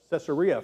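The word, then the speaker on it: Caesarea Philippi: And I I was reminded of, let me see if I can pronounce this right, Rocky. Ceer Philippi. Cesaria Philippi.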